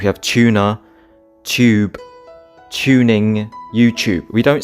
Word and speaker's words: YouTube: In England, we pronounce the combination of letters TU as if it's a CHU. So for example, you have tuna, tube, tuning, YouTube.